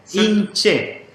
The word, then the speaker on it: inche: claro in Che Che Cómo se pronuncia in Che in Che inche ahí sí Exacto ahí ustedes lo ven ahí alguien puede decir inche ah como la palabra Che de gente en de ahí viene